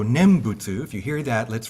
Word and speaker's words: nembutsu: awareness of Buddha because the nen is awareness and then busu is just the CH Japanese pronunciation of the Chinese character for Buddha so nembutsu if you hear that